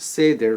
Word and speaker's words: Seder: Is it a Seder? Am I pronouncing it correctly?